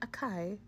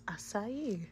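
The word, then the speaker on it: açaí: and it turns out it's not a Kai it's aai you living your word so it's an asai Bowl I still hope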